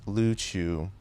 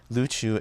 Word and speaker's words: Luchu: independent nation known as luchu although japanese and westerners commonly say uriu today luchu is the native pronunciation i am native luchuwin and it's also historically the most common pronunciation so that is what